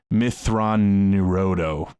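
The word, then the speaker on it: Mitth'raw'nuruodo: then so so for for example thrawn it's mythron neuroto is how you pronounce his name so thrawn is like the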